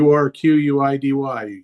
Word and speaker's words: Urquidy: They've got to move on from Jose I'm not even sure how you pronounce Urquidy. It's unlike you with pronunciations, apparently, now. Y O U R Q U I D Y.